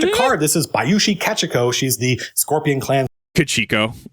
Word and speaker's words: Kachiko: I think technically his pronunciation is more on point. Because Japanese has equal stress on each syllable. So yeah, but I'll say it the Americanized way, which I shouldn't.